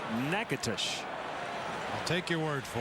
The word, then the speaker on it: Nacogdoches: Humber was born in Texas in a town called, it's spelled Nacogdoches. I believe it's pronounced Natchitoches.